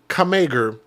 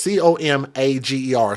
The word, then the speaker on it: Comager: son, 23-year-old Damian Kamager, or Comager, I'm not sure how to pronounce that. It's Comager.